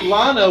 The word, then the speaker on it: Lana: Anyway, so I go to Lana, which rhymes with Madonna.